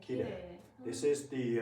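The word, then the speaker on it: きれい: Actually, this is actually, even if it's written I, it's also pronounced as e. Kirei.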